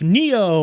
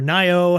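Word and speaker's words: Nioh: This week we have Neo or Nyo, however you want to pronounce it, spelled N I O H on PS4.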